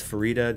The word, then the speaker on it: Farida: Evans was on stream to confirm that it is Farida, just like fajita.